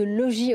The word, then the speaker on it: Logis: de route RSE de Logis Hôtel on va éviter prononcer le S j'ai bien compris vous